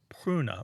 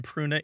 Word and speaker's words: pruna: what a road but and that word was pruna Martha how's my pronunciation on Latin p r u in a